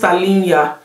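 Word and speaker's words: Tallinja: to put it on the screen but it's pronounced Talia it's an app where you use to check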